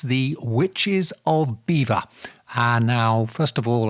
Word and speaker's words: Belvoir: this is England so it's beaver as in the little furry creatures that build dams in rivers my source is a